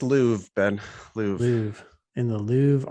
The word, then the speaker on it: Louvre: I researched for weeks in It's the pronounced Louvre, Ben.